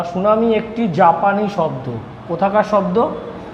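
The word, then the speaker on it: tsunami: সুনামির স্পেলিংটা দেখে নাও। টিটা উচ্চারণ করা হয় না। টি এস ইউ এন এম আই টিটা উজ্য থাকে।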